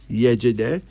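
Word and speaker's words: Yejide: Yejede. This is a Yoruba of Nigeria name, meaning the image of her mother. This girl is the image of her mother. Yejede.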